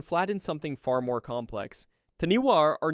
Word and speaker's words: taniwha: The word Taniwha, pronounced roughly tanifa, appears in the oral traditions of every major iwi across Aotearoa, New Zealand.